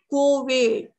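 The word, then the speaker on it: couvade: Either kinship usage is co-wade. It is spelled as C-O-U-V-A-D-E.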